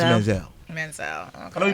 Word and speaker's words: Manziel: It's pronounced Manziel.